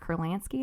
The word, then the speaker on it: Kurlansky: And so I found this book called Salt by Mark Kurlansky, I think is how you say it.